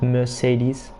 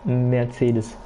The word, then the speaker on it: Mercedes: mad cedars going slow i'm german i know how to pronounce meditators so it's not mercedes it's mercedes um but right now we